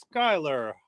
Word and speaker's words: Schuyler: Nancy Robertson says the Schuyler is pronounced Schuyler.